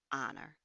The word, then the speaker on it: honor: It should also be used before any word beginning with an H that is silent. For example, honor.